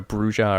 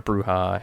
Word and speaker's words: bruja: grade there's also a a bruja or bruha however you want to pronounce it uh series or Trilogy